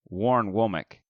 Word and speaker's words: Warren Womack: It's Warren Womack. We got to get that right. I feel like we've been saying it wrong too long.